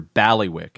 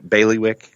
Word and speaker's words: bailiwick: to be in your your balli wick I think is the correct word we're looking for they like bailiwick bailiwick yes sorry I'm on the